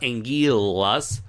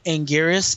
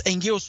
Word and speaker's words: Anguirus: But so yeah, it's not technically, if you want to be a snob about it, it's not Angiras, it's not Angilas, but it's Angiras.